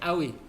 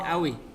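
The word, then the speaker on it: قوي: Ini bacanya awi, ya. Qafnya pakai hamzah. Jadi awi.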